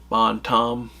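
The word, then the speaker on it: Bon Temps: It's spelled T E M Ps, but in the show they keep calling it uh, Bon Tom uh, without the s and without the temps.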